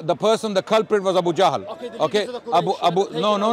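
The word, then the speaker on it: Abu Jahl: said Abu Abu J you I'm correcting your pronunciation of Abu lahab you said Abu the the person the cprit was Abu jahal okay AB Abu no no no Abu jahal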